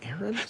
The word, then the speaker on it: Aaron: maybe they're getting cheaper now i don't know aaron gordon willie cauley stein sarik you know i'm